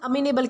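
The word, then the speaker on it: amenable: तो दोस्तों आज का हमारा सबसे पहला वर्ड आता है अमीनेबल। दोस्तों, इसे अमेनेबल प्रोनाउंस किया जाता है जिसका मतलब होता है बात मान लेने वाला व्यक्ति या फिर कोपरेट करने वाला।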